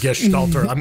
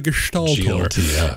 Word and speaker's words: Gestaltor: Gestaltor. I'm glad you included the sht. It's the Gestaltor, and it is 100% GLTF editing, whatever that means.